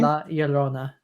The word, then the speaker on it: La Llorona: Yolena. Okay, sure. Yeah. Wait. Sorry. One more time for me. One more time for me. La Llorona. I wish they would have pronounced it like that in the movie.